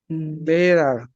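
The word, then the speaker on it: Lehrer: Wir sind ähm, wir sind ওই যে লেকচারার যে মানে লেহার যেটা আর কি, ওটার উচ্চারণ কিভাবে হয়? লেরার, লেরার।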